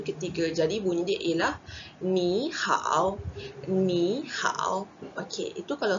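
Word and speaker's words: 你好: Okey, kalau tengok dekat tulisan, ni hao adalah tone tiga, jumpa dengan tone tiga. Cara baca dia mestilah, ni hao. Tapi, susah. Kalau takkanlah setiap kali kita jumpa orang, kita cakap, ni hao, ni hao. Jadi, dia akan mudahkan yang depan kita akan baca sebagai ton kedua, yang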